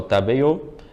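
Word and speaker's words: 食べよう: Então, no caso, se formos colocar em hiragana, ficaria tabeyo, com o U no final. mas a pronúncia é como se fosse um acento circunflexo no A. A gente não pronuncia esse U, só prolonga o som e deixa mais fechado.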